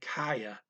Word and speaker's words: kaya: So if you hear it as kaya, that's okay. But just listen carefully. They're saying kaya, kai, ah. But then the yeah is kind of getting created as the interface between those two syllables.